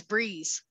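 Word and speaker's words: Breese: It's spelled B-R-E-E-S-E, but it's Breeze.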